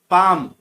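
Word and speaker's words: palm: को अंडरलाइन किया है टॉम, तो उसमें बी साइलेंट रहता है। थर्ड में पाम, पाम में आप देख सकते हैं एल को अंडरलाइन किया है, एल साइलेंट रहता है।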